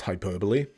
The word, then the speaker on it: hyperbole: me and i was like wait what it's pronounced hyperbole oh my god i used to pronounce uh